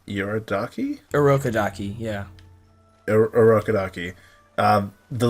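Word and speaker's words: Urokodaki: when uh just uh remind me how to pronounce todro's uh like teacher's name yorodaki a rokadaki yeah arokadaki um the letter from rokadaki uh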